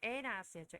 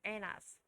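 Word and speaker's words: Annas: 결박 당하시고 and brought to 자 이건 이 사람 이름 좀 어려웠는데 에나스였죠. 에나스. 우리 한글 발음으로 안나스라고 되고 에나스.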